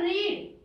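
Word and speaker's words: read: वैसे तो देखो इसकी थर्ड फॉर्म की जो स्पेलिंग है वो भी आर ई डी होती है, पर हम इसको बोलते अलग है, ये रीड रेड रेड, ठीक है, स्पेलिंग सेम रहेगी बट इसका प्रोनाउंसिएशन चेंज हो जाता है, रीड रेड रेड, ठीक है।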